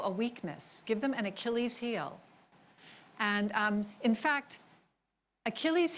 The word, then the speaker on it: Achilles: Now, I know you all know how to pronounce that word, but when I first saw it, I thought it was a child's when I was like 7 or so. It's Achilles.